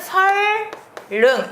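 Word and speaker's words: 선릉: 유만 예문 생각하시면 돼요 선능이라는 곳이 있는데요 얘 발음은 설릉 이렇게 발음하다 그러면 리을 리을이 뭐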